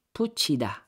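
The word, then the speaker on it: 붙이다: Put plus ida. Okay, so sa first syllable natin, pag bigkasin mo yan, solo lang siya, put lang yan. Put. Put. Letter T. Okay? Pero pag dagdagan mo siya ng vowel na E, magiging puchi. Puchida.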